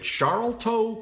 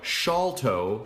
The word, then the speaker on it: Sharlto: are LT o so if you'd ever seen his name and you're like is it sharlto copley no salto shawl like shawl like you put on a shawl sharlto copley